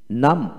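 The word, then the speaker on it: numb: তারপর আসেন এন ইউ এম বি নাম নাম, এন এম নাম, আইপি স্পেলিং নাম।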